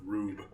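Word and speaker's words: R/B: It's also pronounced Rube.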